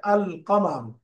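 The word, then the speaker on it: القمر: আর হুরুফ কামারিয়া মন লেটারের বৈশিষ্ট্য হল লামটা উচ্চারণ করে পড়তে হবে আল কামাল।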